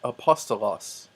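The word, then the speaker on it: ἀπόστολος: pronounced them together next Apostolos apostolos you're probably familiar with that a apostle but they're this smooth breathing mark does not make a an H sound so it's not ha hasta los or ki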